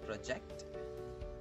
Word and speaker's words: project: One is project, where the stress is on the second syllable.